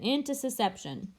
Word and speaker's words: intussusception: pronunciation or spelling difficulties so it's interception into ceception and if it helps you remember you can think of it as one side of the intestine going into into subsection into the other so